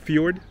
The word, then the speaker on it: fjord: And I like the word fjord. It sounds like Ford, but not really. You said it sounds like Ford? Yeah, but not really. Not really. Fjord?